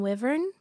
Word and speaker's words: wyvern: the narrator who I love do I mean wyvern yeah it is actually wyvern she pronounced it pronunciates it the wrong way the